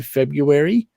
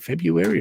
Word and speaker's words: February: How do you say it? February or February? I hate February. I still can't personally, spell it, so. but why is there an R there if you're not going to say it?